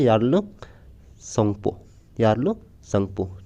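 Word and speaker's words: Yarlung Tsangpo: वहाँ इसको किस नाम से जाना जाता है, तो वहाँ इसको जाना जाता है यार्लो संगपो। ठीक है, ये टी नहीं होगा, टी साइलेंट है, यार्लो संगपो के नाम से जाना जाता है इसको तिब्बत में।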